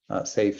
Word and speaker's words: SAFe: SAFe, Scaled Agile Framework, the E is silent, added to make the acronym better.